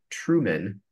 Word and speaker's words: Truman: The premise of the movie is that Truman, and of course you can hear how it sounds like the word true man.